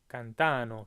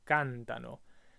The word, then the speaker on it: cantano: the you plural, cantate, your instinct might be to say cantano, but that's not correct. It goes back 1 syllable, it's cantano. And that's the same with all verbs. That's just something you're going to have to memorize, is that if it's in the third person plural, the emphasis goes back 1 syllable from where you think it's going to be, right? So it's cantano, always.